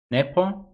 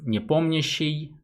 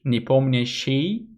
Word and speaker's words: Nepomniachtchi: usually they talk to nepo but for me it's quite easy to pronounce since i'm russian so we can just say nipomnishi and you can also try it to if you wish nippomneshi um so i was